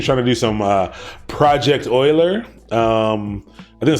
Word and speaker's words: Euler: link to project well I'm pretty sure it's Euler even though it's spelled to Euler it's it's project Euler and a lot has